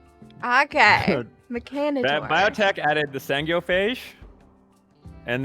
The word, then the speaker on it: Mechanitor: How do you pronounce Mechanator? Mechanitor. Okay. Mechanitor.